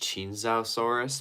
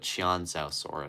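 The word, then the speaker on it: Qianzhousaurus: See, I think it's actually pronounced Chinzosaurus, but Chianzosaurus sounds way better.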